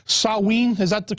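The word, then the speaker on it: Samhain: know the real name i think was called saw ween is that the correct other correct pronunciation yeah in the celtic british isles yeah sewing it spelled samh a IM but when you say it as sewing and yeah that's the that's the ancient ancestor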